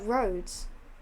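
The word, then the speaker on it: Rhodes: did you go which I don't remember uh roads oh yeah that's why the game we played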